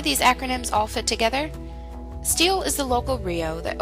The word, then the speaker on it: STHL: sites on the internet sthl or steel is short for southern tier healthlink steele is your local rio and manages this community's hie so how do these acronyms all fit together steel is the local rio